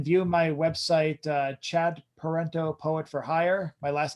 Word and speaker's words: Parenteau: web you can view my website uh chad parento poet for hire my last name is spelled p-a-r-e-n-t-e it's not italian but everyone thinks